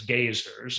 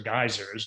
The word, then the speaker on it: geysers: of the world's geysers i guess it's gazers or geysers depending on how you choose to pronounce it are found in wonderful